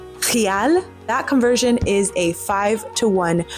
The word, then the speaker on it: real: Also, the currency in Brazil is the real, which that's the English pronunciation, but the Portuguese pronunciation is real.